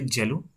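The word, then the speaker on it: cello: तो आप ये वर्ड है इसको आप क्या बोलोगे, जेलो, ठीक है। आप इसको सेलो प्रोनाउंस नहीं करोगे, ठीक है।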